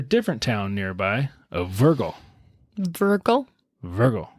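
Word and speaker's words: Wörgl: Virgil. Spelled with the W, obviously.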